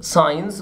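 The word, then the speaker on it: signs: ورموز ساينز، ما تنطقش الجي، ساينز، ساينز، ساينز.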